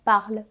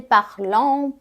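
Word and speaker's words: parlent: aqui le paron par você não pronuncia ele tá você não pode dizer parlon parente nada disso é paron par os pais deles falam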